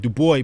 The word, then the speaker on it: Du Bois: He said, Du Bois, pronounced Dubois.